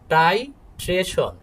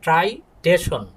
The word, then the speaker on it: titration: টাইট্রেশন বানানটা খেয়াল করো, টাইট্রেশন, এটা কিন্তু ট্রাই না, কেউ বলবা না যে ট্রাইটেশন, না, এটা হচ্ছে টাইট্রেশন।